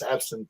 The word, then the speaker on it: absinthe: She says synth. It's absinthe. Absinthe. She's adding syllables, but she adds syllables.